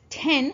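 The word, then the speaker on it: 店: Now this kanji is pronounced as ten when you combine with other words, such as kissaten.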